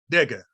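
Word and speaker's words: dega: off also gave us this next word d-e-g-a Diga Diga the Warlock word vega it means to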